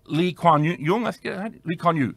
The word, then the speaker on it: Lee Kuan Yew: example, the country is Singapore, and its founder, Lee Kuan Yew, that's how you pronounce his name, I believe.